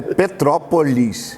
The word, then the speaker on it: Petrópolis: Tem que até corrigir isso, porque todo mundo fala Petrópolis. O petropolitano, ele come essa sílaba do meio, ele acaba falando Petrópolis. Ele junta. A gente aprende, né? Vai junto. O certo é Petrópolis. E a gente acaba falando Petrópolis.